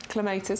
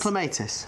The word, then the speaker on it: clematis: Clematis. Clematis. I couldn't remember how to say it. I was going to say clematis. No, I don't know why clematis. It's because I'm from Essex.